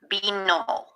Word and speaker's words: vino: Vino. It's spelled V-I-N-O, but they say they're B's and they're V's.